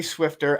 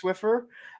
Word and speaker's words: Swiffer: Yes, Fatrid, I did say Swifter. I always say Swifter. I do too. say it wrong, okay? It is and I know Swiffer. it's Swiffer, especially because I looked at it a lot.